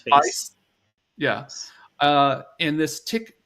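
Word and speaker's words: FAISS: a i s s do they say face like is that is that how could you yeah I think you can pronounce his face yeah uh in this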